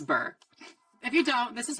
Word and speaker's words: Bure: I hope it's not Bure, and I'm just like, Bure. It's Bure.